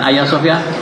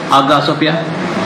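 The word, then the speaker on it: Hagia Sophia: agak Sofia hadiahnya Iwe bacanya agar bukan ayasofya agar Sofia dia merupakan gereja yang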